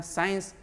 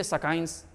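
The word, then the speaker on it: science: सी जब एस के बाद हो, तुरंत बाद, तो सी को साइलेंट मानना पड़ेगा, उसकी उच्चारण नहीं करोगे।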